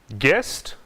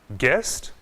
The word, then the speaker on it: guest: Guest, guitar, building. Observe, não pronunciamos a letra U nessas palavras. Guest, guitar, building.